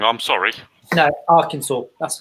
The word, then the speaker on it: Arkansas: the the guardian has given Trump uh Aransas Arkansas as it's nown it I am I pronouncing it wrong I'm sorry no Arkansas that's how it's pronounced oh okay see when